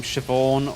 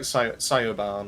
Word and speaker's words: Siobhan: see like the name siobhan or who's the one recently um sinead i think it's another one um like cyobarn or well i never say it that way but in my head